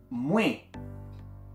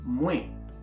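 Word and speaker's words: mwen: yo que se dice muy recordemos aquí tenemos una vocal nasal así que la pronunciación es muy y yo es igual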